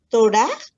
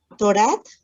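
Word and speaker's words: תורת: Torah. Te faltó la T al final. Torat. Espérame. Sí, Torat. Correcto, muy bien.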